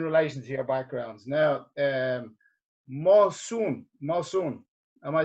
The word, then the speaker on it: Mosun: Now, Mosun, am I saying it right?